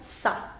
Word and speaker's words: ça: I don't want to say kava. Right now it is kava. I want to change it into ça va. So with accent cédille, it becomes ça.